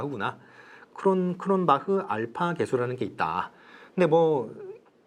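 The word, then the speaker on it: Cronbach: 돼 있는 사람이 있어요 크론 박 그런 박 아니고요 쿠론 바 합니다 얘 뭐 이렇게 되있어요 스펠링이 이렇게 해서 이렇게 크론 바흐 있게 돼 있죠 이상 독일 사람이거든요 원래 독일 주시네요 그 독일계 사람이죠 그래서 박을 하고 읽으셔야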